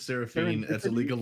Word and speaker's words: Seraphine: It's Yeah. It's Seraphine. Seraphine. Oh, that's a. I think Yep. it's Serapini. No, it's Seraphine.